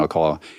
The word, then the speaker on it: Alcala: And like Alcala, Anna's movie, and it's her movie's based on a chapter in the book, Rodney Alcala.